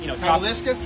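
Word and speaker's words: Kavaliauskas: I don't even know how to pronounce the Lithuanian kid, the Olympian Kaval, Kavalishkas? Yes, The Kavalishkas.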